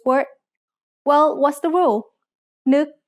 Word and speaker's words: นึก: นึก has an initial low-class consonant and a final stop that makes it a dead syllable, plus a short vowel that makes it a high tone.